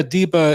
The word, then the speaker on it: DIBA: startup day at pleblab with Hunter Beast of Diva diva is that is that how you say it yeah Deepa it's uh it stands for digital Bitcoin assets